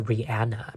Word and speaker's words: Rihanna: them by the way apparently her name is pronounced rihanna because my best friend's name is rihanna and